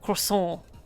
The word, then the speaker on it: croissant: Or forgive me, croissant. I guess you don't actually pronounce the T when you're saying it in French.